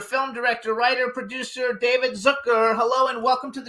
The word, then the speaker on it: Zucker: with Ron Russer, film director, writer, producer, David Zucker. Hello and welcome to the show. Thank you, and thank you for pronouncing my name correctly.